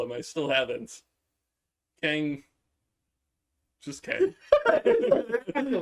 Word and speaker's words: Kang: is Tang, and it rhymes with my name.